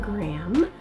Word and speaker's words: Graham: My full name is Graham. And it's not spelled like my YouTube channel is spelled. It is actually G-R-A-H-A-M. I always tell people like graham cracker, but without the cracker.